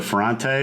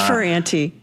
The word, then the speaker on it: Ferrante: It's Ferrante. Ferrante, okay. Yeah. It's got a little, like sort of like almost like a New York A in there, Ferrante.